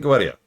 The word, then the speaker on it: Goetia: It said Goetia. I'm calling it Goetia. I looked up a pronunciation guide.